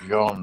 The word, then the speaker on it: Jean: the French the word the name jeans is pronounced John in France job making John Paul